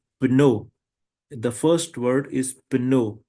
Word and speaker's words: pneu: The first word is pino. Pino means tire. And we pronounce both letters p and n.